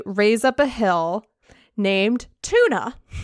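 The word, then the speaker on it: Túna: on the page but originally it was just toon it was t-u-n and i don't know why he added the a on the end and went with it but tuna that's what the man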